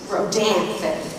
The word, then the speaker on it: Rodanthe: All right, let's look at Oliver Stone's World Trade Center and the Hollywood comedy, Knights of Rodanthe.